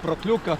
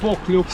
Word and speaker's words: Pokljuka: the biathlon center of Pokljuka, Prokljuka as it is already called. Isn't that the same? They are not the same locations. I don't know how to say it exactly. Is it with R or without R. Well, I think it's Pokljuka,.